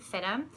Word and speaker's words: FIDM: We pronounce it FIDM.